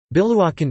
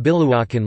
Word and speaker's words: Biluochun: Biluochun Chinese, Biluochun Pinyin, Biluochun, pronounced Pi, Luo, WN is a famous green